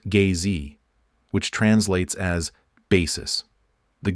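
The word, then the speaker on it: gzhi: for the Primal ground in drogin is G pronounced gay Z which translates as basis the giji is the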